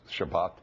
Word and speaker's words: Shabbat: Remember, sabbatical comes from the word Sabbath, Shabbat or Shabbos, depending on which pronunciation you want to use.